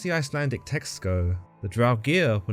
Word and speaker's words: Draugr: To the Norse folk and the legendary sagas, these undead beings were known as the Draugr, or the Draug in Norway, or Draugr going by the more modern pronunciation.